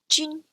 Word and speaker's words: jun: Finally, we have the umlaut UN, which is pronounced like un in French. So another example, jun.